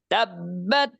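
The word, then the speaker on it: تَبَّتْ: তা বাজবার তাব, আবার বা সুকুন, তাহলে দুইটা বা একত্রিত হয়েছে, সেজন্য এভাবে উচ্চারণ করতে হবে তাব্বাত ইয়াদা আবি লাহাবিন ওয়া তাব, ওয়া তাব, এরকম হবে।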